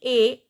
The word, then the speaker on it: est: Then il est. This T is silent. He is. Elle est.